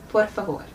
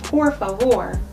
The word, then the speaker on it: por favor: So a little trick I discovered recently is if you pretend the R is a D, it'll help you get used to rolling your R's. So instead of saying por favor, instead pretend the R is a D. Por favor. Now that sounds weird and it's not exactly right.